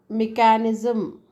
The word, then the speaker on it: mechanism: Here you can see that that's a machine, right? Machine and mechanism, right? So here ch is pronounced as sh, and in this case same combination of word is pronounced as k.